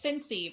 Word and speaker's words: Cincy: So you can, but you say it's Cincy, but you spell it with a Y, not an I, because that's when you know when people aren't from Cincinnati. But you know, when we sell our shirts, it's CINCY. Okay.